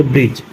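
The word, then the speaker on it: bridge: example य लिखा है जी से पहले डी आया तो य पर डी साइलेंट है इस हम पढ़ेंगे ब्रज नेक्स्ट इज क्या लिखा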